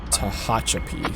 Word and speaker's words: Tehachapi: comments of part one mentioned it is mojave and tehachapi so that is the proper way of saying it um english my number